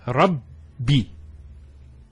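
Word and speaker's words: رَبِّ: The first Ba takes a Sukoon. And the second takes a Kasra. So it's Rabbi.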